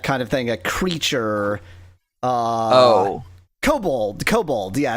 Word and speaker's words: kobold: Kobold. Kobold. Yeah, it's kobold, not kobold. No, when we looked it up, it was both. When we looked it up, it was both, but the origin was kobold.